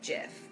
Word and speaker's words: GIF: beeps on both sides whether it's Jif or gif apparently like something like that's Dan's for like like graphic integrated whatever I don't know what the thing actually stands for so you're supposed to say it like the G sound but I heard that the guy who created gifts says it jiff but I'm like don't you know that's peanut butter bro I have not